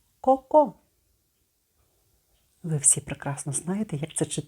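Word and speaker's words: Coco: з літери с літера літера с саме Так вона називається але читати Ми її сьогодні будемо як звук к ко ко ви всі прекрасно знаєте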